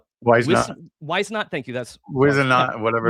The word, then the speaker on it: Whisenant: My favorite is is Edgar I'm going to say his name wrong. Whisenant. Whisenant, thank you.